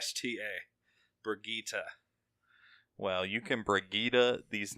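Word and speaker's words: Brigitte: do next yeah just up looked at those pronunciations I guess that's how I say it it is Brigitta Brigitta rakita off yeah off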